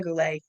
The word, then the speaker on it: Goulette: Eva Goulette. Is that how I pronounce it, Eva? And actually, I pronounce it Eva Goulette.